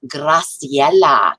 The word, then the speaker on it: Graciela: The first one is Miss Graciela. Can you say that? You have to roll your R.